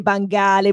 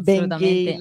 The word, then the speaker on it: Bang Ale: si chiama Ben Gale, che non si legge Bangale, ma si legge Ben Gale.